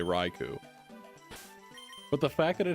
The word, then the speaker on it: Raichu: I There's no way it's There's no way it's Reiko. There's no way. It's Rau. Everybody knows it's Raichu.